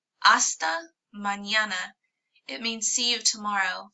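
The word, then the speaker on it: mañana: called an in and it is pronounced like an n and a y together a sound so AA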